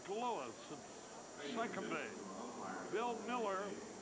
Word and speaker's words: Mueller: Bill Miller, it's spelled Mueller, but it's pronounced Miller, at third.